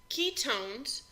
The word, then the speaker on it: ketone: oh and E and it's pronounced own it's a long o ketone so here we have